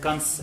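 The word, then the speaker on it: कंस: Like kans. Everyone says Kans. kans. It's spelled with an N also.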